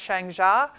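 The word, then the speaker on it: Shang Xia: in the Chinese market it's pronounced Chang JA and they had just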